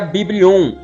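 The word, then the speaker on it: βιβλίον: A palavra Bíblia vem do grego, que se pronuncia Biblion, e que significa livros.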